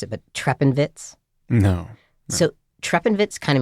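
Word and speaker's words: Treppenwitz: it's a German term called I'm going to mispronounce it but trepenvitz no so trepenvitz kind of means stare with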